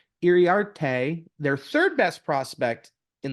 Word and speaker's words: Iriarte: Hario, I'll say it, Hario Iorante. I think I said it wrong. Iriarte, their 3rd best prospect in the Padre system.